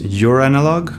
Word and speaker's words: Joranalogue: recommend it test three I think this is pronounced your analog I hope I'm not